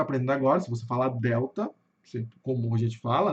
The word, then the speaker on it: Delta: Então, pessoal, toda vez que vocês virem esse símbolo aqui, pode saber que é o chuá, que nunca é um som do a aberto, entendeu? Ele é mais, ele sai pela metade. Eu digo que ele sai pela metade, né? Então vai ficar delta.